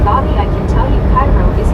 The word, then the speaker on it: Cairo: Carl Johnson said and it is pronounced like the syrup car right outside of Illinois.